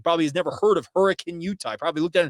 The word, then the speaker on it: Hurricane: It's actually pronounced hurricane, but nonetheless, I get it.